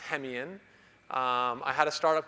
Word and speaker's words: Hemeon: is and um my last name is pronounced hemian um i had a